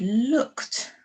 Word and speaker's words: looked: sound le book look but we've added ed on the end but we don't say we don't say as ed it makes a t sound almost looked looked okay and then another